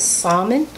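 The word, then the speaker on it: salmon: or is it sounded the L is silent right saman and um black and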